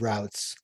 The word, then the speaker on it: route: Is it routes or is it routes? My wife's always making fun of me because I don't know how to pronounce English words, I guess. It's route. It is route. I'm a root guy, but I'm from Pennsylvania. There are root people.